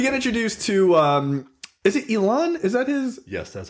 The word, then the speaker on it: Elon: So then we get introduced to is it Elon? Is that his? Yes, that's how you pronounce it. Okay. Elon.